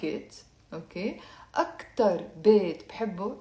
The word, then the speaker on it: بحبه: بحبه. Okay, so that's why you have the letter he, which is silent in the end, and the dhamma on the be before, as you can see in the text.